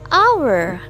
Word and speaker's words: hour: An umbrella, kemudian an hour. Nah, kalau di sini kan tulisannya berawalan konsonan tapi bacanya berawalan vokal. Hour, makanya bukan hour tapi an hour.